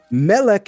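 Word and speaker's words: מֶלֶךְ: You see, there are three ideas I just represented that are spelled exactly the same in biblical Hebrew, but each different pronunciation yielded a different meaning. Melch is how we say king. Malik is an angel. Molech is a god that the creator told us don't worship.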